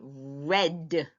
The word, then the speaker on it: read: seeing read again but guess what that's not how you pronounce it this time for the past we're not going to say read again now if you're going to use it in the past you're going going to say red now let's go back